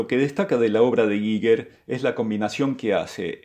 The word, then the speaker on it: Giger: Hans Ruedi Giger, que j'ai aussi entendu prononcé de différentes manières, mais la bonne façon de le prononcer est ceci, je vais l'appeler Giger.